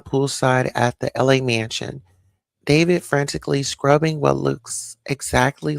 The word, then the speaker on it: D4vd: So, David, but it's spelled like different. It's like D4 VD.